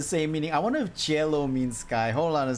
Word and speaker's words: cielo: I wonder if Cielo means Sky. Hold on a second. What is Cielo? Cielo meaning. Oh, sweet lord. Cielo is Spanish and Italian for sky.